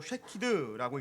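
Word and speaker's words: שָׁקֵד: 것이다라는 것을 가르쳐 줍니다 살구나무는 히브리어로 쉐키드라고 읽는데요이 단어의 다른 의미가 바로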